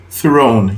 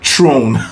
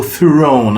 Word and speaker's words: throne: like an example is thrown you know it's the T before the H okay don't pronounce it like it's just a t Throne all right all right so you go Throne okay with your tongue